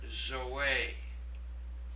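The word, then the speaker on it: ζωή: And the final one there, zoe.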